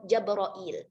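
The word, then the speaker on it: جبرئيل: Nanti ketika farsyul huruf pada pembahasan Jibrilu, itu nanti Imam Hamzah membacanya dengan Jabroil.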